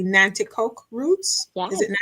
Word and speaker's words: Nanticoke: to your I hope I'm saying it correctly, Nanticoke roots. Yes, Is it that Nanticoke?